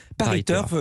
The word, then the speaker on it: Paris Turf: j'ai bien compris mais je ne savais pas ça se prononcer à la française dans la landaise paris turf je me tiens donc